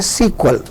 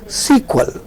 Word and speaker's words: SQL: और ये जो नॉन प्रोसीजर लैंग्वेज है इसे हम लोग कहते हैं SQL, स्ट्रक्चर्ड क्वेरी लैंग्वेज, और पढ़ा जाता है सीक्वल, इसको प्रोनाउंस किया जाता है सीक्वल।